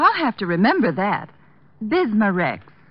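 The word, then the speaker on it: Bismarex: have to remember that bismar Rex is that how you say it that's right ma'am b i s m a hyphen re x bismar x ask for bismar Rex at reol drug stores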